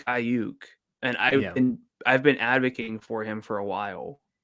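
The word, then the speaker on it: Aiyuk: As I said it right. I said it the way Tony Romo says Ayuk. It's Ayuk.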